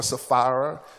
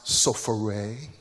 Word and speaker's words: Sapphira: ananias and his wife we call her sapphira but her name is actually pronounced sofare um she's bougie yeah